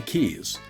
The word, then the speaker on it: quay: for instance the Florida Keys q u a y is also pronounced key and is a concrete